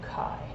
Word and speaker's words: chi: x is in greek the letter x is pronounced chi so chi square is the sum of the observed frequency